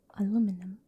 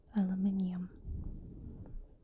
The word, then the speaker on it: aluminium: The American way, aluminum, or the British one, aluminium?